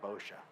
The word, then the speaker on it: Bosch: Darren, I talked to him like, "How do you pronounce your name?" Because I was two different ways I could pronounce it and I didn't know what which way. And he he Darren Bosch and I'm like cool. I was like, it was either Bochia, Bcha, or I was coming up